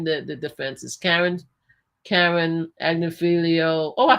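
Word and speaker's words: Agnifilo: Okay, so anyway, to name the defense is Karen Agnifilio. Oh, I pronounced his name right.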